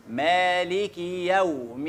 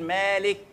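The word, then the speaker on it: مالكِ: الدين مالك يوم الدين ركز في مالك فيها خطا شائع الاغلبيه فينا بيسكن الكاف بيقول مالك يوم الدين وهي ماهيش مالك هي ايه مالكي مالكي طيب ليه احنا بنسكن لان الكاف تحتها كسره جه بعدها الياء فوقها فتحه فمن الكسره للفتحه بيروح جاي مميع في النص ومسكنها خلاص لكن انا قد الكسره حقها وادي الياء حقها ازاي مالك يوم الدين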